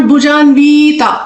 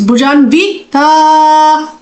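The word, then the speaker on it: भुजान्विता: there is नो दीर्घा इट्स नॉट भुजानवीता इट्स भुजानिता इट्स न small नी विव भुजानविता ता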